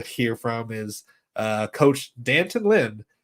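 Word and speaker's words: D'Anton Lynn: everyone has said is dant Lyn it's not D ly it's dant ly Danton okay I think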